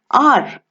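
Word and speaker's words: hour: is silent for example r r starts with an h but the h is silent therefore it sounds like it starts with an o and r we use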